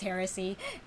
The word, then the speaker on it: heresy: I keep, I pronounce it as hearsay in my head, but yeah, it is heresy. Whoop. Haha. Because yes, they are. They are two different words.